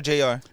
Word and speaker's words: JR: Says Junior or Jr.?